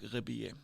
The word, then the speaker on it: Rebillet: Marc Rebillet is a little bit of a YouTube mini star. He is a American, but he got a French last name, Rebillet. That's how I pronounce it.